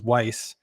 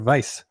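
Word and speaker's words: Weisse: the pronunciation of that I've always thought it was Weiss you know but it's the German word Vice um it's 5.25% it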